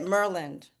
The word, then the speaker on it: Maryland: then you have to say it properly. You have to say it Merland.